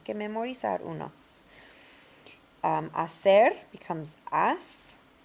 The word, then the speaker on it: haz: Hacer becomes as. Remember, the Z is not pronounced like it is in English. As or ath in Spain.